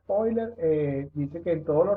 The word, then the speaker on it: Euler: Entonces aquí les puse una frase de un famoso matemático llamado Leonard Euler, se pronuncia así, se escribe Euler, pero es Euler, dice que en todo lo relacionado con la naturaleza y sus leyes hay razones de máximo.